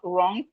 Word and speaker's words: wrong: We have wrong, the W is silent.